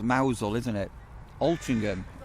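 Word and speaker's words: Mousehole: Um it's a bit like mouse hole in Cormal's pronounced mousel, isn't it?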